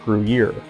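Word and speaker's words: Gruyère: It's actually pronounced Gruyere.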